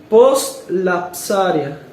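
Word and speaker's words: postlapsaria: Cristo tomó la naturaleza humana post-lapsaria. Se escribe así, se lo voy a deletrear.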